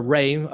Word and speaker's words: Ra: that name itself means raw or rey some historians will often spell or pronounce uh raw as as ray r-e versus r-a same god um and